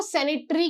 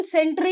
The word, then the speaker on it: सेंट्री: Videos हैं उनमें ना सेंट्री का जो प्रोनाउंसिएशन है वो सेनेटरी किया गया है, दैट इज रॉन्ग, ठीक है। ये कैप्टन सेंट्री लिखा है, सेनेटरी नहीं लिखा है, सेनेटरी समथिंग एल्स, ठीक है।